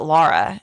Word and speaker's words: Laura: this movie she's listening even though it's spelled with the U they do pronounce it Lara in the movie yeah so but it's